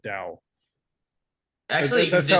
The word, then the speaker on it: Tao: I would say It's Dow. It's the spelled same. it's It's spelled spelled differently, Tao, but pronounced but the same. yeah, it's Or spelled Tao, but said Dao.